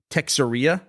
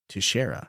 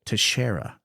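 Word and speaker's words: Teixeira: National secrets on Discord uh I believe I pronounced their last name as Taria which is like a portmanto of Texas and cafeteria I think and apparently the cor the correct way to pronounce that is Tara well we've all learned something today then tashera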